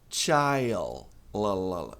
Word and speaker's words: child: Tem que pronunciar o L, hein? Child. Child.